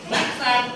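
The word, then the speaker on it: นักษัตร: นัก สัตว์ นัก สัตว์ ไม่ ออก เสียง ร เรือ โอเค แล้วดล นะ ครับ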